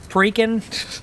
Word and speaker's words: Perique: Perique. Rican. See, I was saying Perique. I knew it was like rhymes with reek.